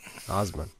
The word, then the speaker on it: Osmon: That's how you pronounce it, right? That's right. Osmon.